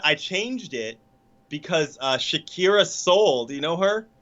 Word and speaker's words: Shakira: Uh Shakira. Sharica. Sherekica. I said her name wrong. I'm sorry. Shakira.